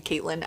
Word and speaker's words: Catelyn: I have a lot to say about Catelyn. I know people say say her name Caitlyn. I like to say Catelyn because her name is Cat for short.